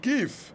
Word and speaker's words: GIF: À vrai dire, ça se prononce GIF.